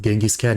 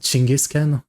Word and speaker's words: Chinggis Khan: It's not Genghis Khan, it's, I think, Chinggis Khan, I believe, is what... Chinggis Khan is what you pronounce it as. But for some reason, it turned to Genghis Khan in the West, I think.